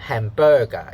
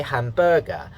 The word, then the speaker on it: hamburger: If you say hamburger, the da da, it's wrong. Okay, it should be da da da.